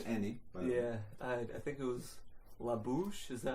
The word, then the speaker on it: La Bouche: I think it was La Bouche. Is that how you pronounce it?